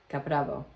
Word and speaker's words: Caprabo: We're a British family living in Catalunia and this is our Caprabo delivery or if you're saying it correctly, Caprao.